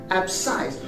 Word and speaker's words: abscise: for example we have the word abscise abscise is spelled as a b s c i s e ab size you can see here that in abscisse the